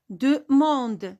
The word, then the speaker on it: demande: Demande. Demande. Regardez, ici on a le son en ouvert. Ce n'est pas le son en.